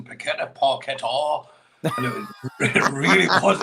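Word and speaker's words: Paquetá: The most frustrating part of yesterday was the Sky commentators, the way they kept pronouncing Paqueta, Paqueta. And it really was annoying to anyone. Have you tweeted this? It was Paqueta.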